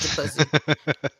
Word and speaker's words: Du Plessis: Du Plessis. You didn't say his name right. His name is Du Plessis.